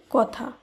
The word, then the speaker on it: কথা: এ কারণে কয়ের সঙ্গে যে আদি অ রয়েছে, সেই আদি অধ্বনির বিবৃত উচ্চারণ হয়েছে, অর্থাৎ অধ্বনি এখানে অধ্বনির হিসাবেই উচ্চারিত হয়েছে। এই কারণে কথা এর শুদ্ধ উচ্চারণ কথা।